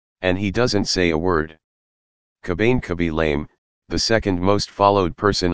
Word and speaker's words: Lame: Now Lame, pronounced Lame, is the most popular man on TikTok, with 117 million followers.